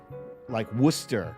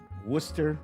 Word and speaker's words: Worcester: Like Worcester, right? Worcester, Gloucester. Why do they have to add these extra letters that are all silent?